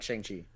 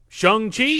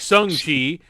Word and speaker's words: Shang-Chi: we're going to have to get the correct pronunciation, apparently, because you got me saying, like, Sung-Chi, and then you're saying Shang-Chi, and then Howie's saying Song-Chi.